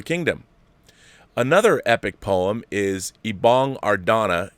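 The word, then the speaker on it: Ibong Adarna: another epic poem is ibong ardana ibong ardana i got it i got it right he gave it to me phonetically so it's good written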